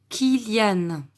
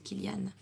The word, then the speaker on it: Kylian: Et cette fois-ci, la lettre Y va se prononcer comme si c'était une voyelle. D'ailleurs, c'est une voyelle. Comme un I. Donc, on va dire Léni. Et ce garçon s'appelle Kylian.